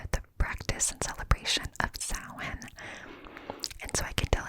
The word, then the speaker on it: Samhain: But Samhain, it's spelled Samhain, but it is pronounced Samhain.